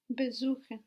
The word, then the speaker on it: besuchen: Besuchen. Where is the accent? Suchen. So be is not a word in its own right and it's going to stay put.